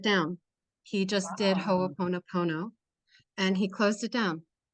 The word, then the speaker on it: Ho'oponopono: practitioners, so I want to understand the certified Ho'oponopono. Yeah, say that 10 times fast, eh? I know. It's it's What a is that? Ho'opono. Yeah. First of all, please pronounce it Ho'oponopono.